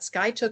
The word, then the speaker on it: Skiatook: I had to ask her how to pronounce that. Skiatook, Oklahoma.